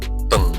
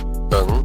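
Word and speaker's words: 等: Oke, yang kedua jawabannya adalah teng yang artinya tunggu. Nah, jadi teng ini D E N G, tapi ingat D dibaca sebagai T. Jadi dalam pengucapannya itu T tambah E N G. Jadi teng, ya artinya tunggu.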